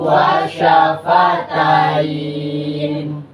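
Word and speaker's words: وَشَفَتَيْنِ: Nah, kalau dia bukan ada di akhir ayat atau di tanda wakaf, maka dia dibacanya kayak ini, wa syafataini. Ya, tetapi karena dia di akhir ayat atau wakaf, maka dibaca wa syafatain.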